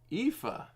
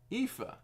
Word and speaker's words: Aoife: It's pronounced Aoife. Aoife.